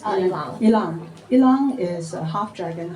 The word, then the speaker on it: Ilang: But your Ilang, how do you pronounce Ilang.